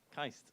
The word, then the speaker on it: KAIST: i a s what's the right way to pronounce that kaist okay I'll just take that in future and